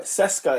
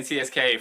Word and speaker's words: CSKA: but like yeah but cesa cesa is how you pronounce their name cesa mosco CES mosco baffling but yeah they got mosow in it yeah then they got I've been saying CSK from the days ready